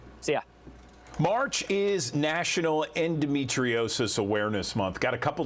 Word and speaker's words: endometriosis: Yeah, endometriosis.